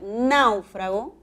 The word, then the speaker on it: náufrago: siguiente serie de palabras puedo pronunciar náufrago con chile es brújula náufrago que es un verbo es una palabra grave y naufragó es una palabra aguda debe advertirle en la voz el siguiente par decimos